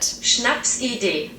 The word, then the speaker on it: Schnapsidee: This word is Schnapsidee. That's how I say it as a New Zealander. This is how Google says it. Schnapsidee.